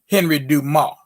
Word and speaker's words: Dumas: excuse me henry dumas let me say it in the appropriate french pronunciation henry dumas that's d-u-m-a-s s asylum all the consonants on the end of french words are silent just in case you didn't know when you see them you